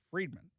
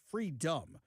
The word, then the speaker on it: Freedom: Because a few famous sports stars like Enis Freedman, Free, excuse me, Freedom, have now said I I've butchered his name like 10,000 times during the show today.